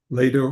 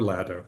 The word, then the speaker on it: Lado: Fred, is it pronounced Ledo? Uh Ledo or Ledo, either one.